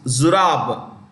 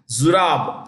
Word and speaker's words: Zurab: And its chief is Zurab. I repeat, Zurab. Z-U-R-A-B. Zurab. Zurab. Pololikashvili. I'll spell it for you.